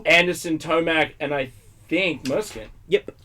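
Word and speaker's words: Musquin: Anderson, Tomac, and I think Muskin. Yep. Right? I think it's pronounced Mooscan.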